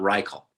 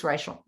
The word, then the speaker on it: Reichl: It is Raichel, right? It's not Riel. It's Raichel. Raichel. Because some would say Riel.